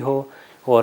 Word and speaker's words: هو: پر وما ہوا بالحزل، یہ ہائے دو چشمی ہے کہ جو کہ اندر سے آرام سے ہا جب کہتے ہیں اس طرح تلفظ کیا جاتا ہے، اگر اس کو ہا حلوے والا کر دے تو یہ غلط ہو جائے گا۔ اس کو دوبارہ